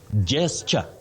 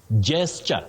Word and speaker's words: gesture: You say gesture. Gesture, not gesture. Gesture.